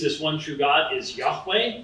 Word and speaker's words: Yahweh: In the Old Testament, the divine name used this one true God is Yahweh. Sometimes you hear it pronounced Jehovah.